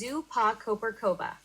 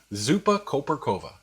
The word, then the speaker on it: Zupa koperkowa: The Polish dill soup is pronounced as Zupa Koperkowa. Zupa Koperkowa.